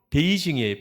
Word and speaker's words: 베이징: 그리고 예를 들어 보면은 뭐 북경도 그 중국의 수도가 북경인데 우리 발음으로론 북경이지만은 중국 사람들 발음으로는 베이징이에요.